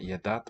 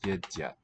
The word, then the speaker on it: едят: Yedyat, oh, it should be not yedat, but yedyat, I think.